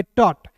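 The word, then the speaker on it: thought: ह आई है तो इ के रूप में उच्चारण ही टी एच ओ यू जी एच टी टॉट हट नहीं पढ़ेंगे इसे पढ़ेंगे टॉट टी एच को पढ़ेंगे दोस्तों ट और ओ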